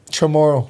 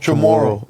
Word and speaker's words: Chamorro: Chamorro. Chamorro.